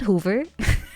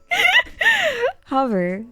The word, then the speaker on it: hover: first in your head it's not Hoover before you say this word out loud practice in your head hover thank you no I'm not saying Hoover anymore I'm I'm I'm I'm